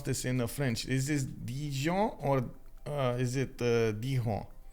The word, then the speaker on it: Dijon: um so wait let me get it uh D John okay got it thank you thank you dropping